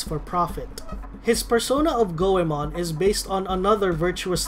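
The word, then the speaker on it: 五: his name in Japanese the number five is pronounced as go iiaba could be his first name of Ishikawa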